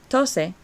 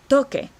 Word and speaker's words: toqué: So we want to make sure we change that C to a QU in the first present tense, or past tense in preterite to make sure that it matches phonetically and it sounds right. So we wouldn't have tose. Tose means to cough. We have toque.